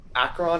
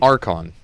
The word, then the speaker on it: Archon: It's less problematic than something like um Acron. I don't know. You always complain if I pronounce that. Acron of cruelty. Archon. It's it's literally a r c ho n.